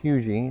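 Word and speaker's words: Huger: down towards um and I always butcher the name of this place Fort Hui or hu um it's spelled like hugger h u g e r but they head off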